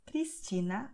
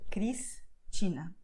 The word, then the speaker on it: Cristina: Also, S will have the sound of S before a consonant at the end of the syllable. So, Cristina.